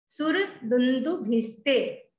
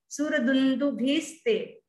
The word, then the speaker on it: सुरदुन्दुभिस्ते: स का विसर्ग हो जाता है, लेकिन अपने को याद करना है, सिर्फ पूरा बोलेंगे। सुरदुन्दुभिस्ते, सुरदुन्दुभिस्ते, सुरदुन्दुभिस्ते।